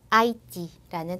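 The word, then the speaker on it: Haïti: 마찬가지로 이 단어도 노엘 이렇게 우하고 으 발음을 다 살려서 해주시고 그 다음 아이티라는 단어도 아, 이 발음을 각자 살려서 해주시면 됩니다.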